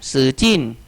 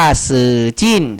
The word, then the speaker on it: 使劲: จิ้น อ่า ซื่อ จิ้น สื่อ จิ้น นะ ครับ ก็ คือ ใช้ แรง อ่า ใช้ กำลัง ใช้ ความ พยายาม นะ 2 คำ นี้ อ่าน ว่า สื่อ จิ้น สื่อ จิ้น อ่า สื่อ